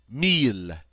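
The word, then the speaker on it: mille: Notice the double L here is pronounced like an L and meal means 1,000. But now notice when you say 10,00 you don't ever say amil. You just say meal and that means 1,000.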